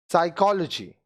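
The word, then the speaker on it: psychology: साइकोलॉजी, अब देखिए यहाँ पी साइलेंट है।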